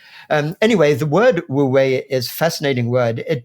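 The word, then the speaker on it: wu wei: But it's generally pronounced something like woo-wei. Wu-wei, okay. So we can think of those people disparaging spirituality as woo-woo and take that woo, but then woo-wei, like as if it's the way.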